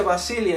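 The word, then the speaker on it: βασιλεία: Perdón, se pronuncia Basilia en el griego. So then, the word kingdom in Matthew chapter 6, verse 33 is pronounced Basilia in Greek. ¿Y qué significa Basilia?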